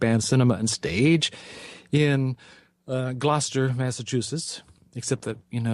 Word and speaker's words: Gloucester: this theater Cape Anne cinema and stage in Gloucester Massachusetts except that you know if I'm when I'm there I need to soften my arm or its Gloucester we're from Ireland so I just Massacre English